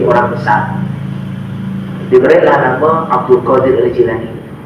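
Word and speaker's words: al-Jilani: Jilan itu nama daerahnya dari negeri Jilan bukan Jailani Bukan aljailani tapi aljilani itu cara bacanya yang tepat seperti itu kemudian karena Syekh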